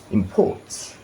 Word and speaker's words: import: When you see import, so when you have stress here, it is verb. So he imports. But he has a business. What is it? Import. That is noun.